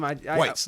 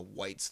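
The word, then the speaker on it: wights: And that's spelled W-I-G-H-T-S, by the way. Is that how it's spelled? Yes, it's white. A white is a zombie, basically. Not to be confused with the White Walkers, which are spelled W-H-I-T-E.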